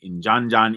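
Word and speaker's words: Ndiadiane Ndiaye: of Jola found by I'm going to tell you how to say this name uh because it's usually not spelled that way traditionally it's called inan Jan in of wallo yes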